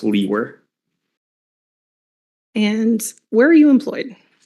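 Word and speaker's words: Liewer: it's and my last name is spelled l-i-e-w-e-r and it's pronounced Lee were and where are you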